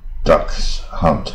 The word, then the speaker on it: dachshund: 语啊。Dachshund 是腊肠狗啊。Ducks hunt 啊，ducks hunt，然后 days 啊，days，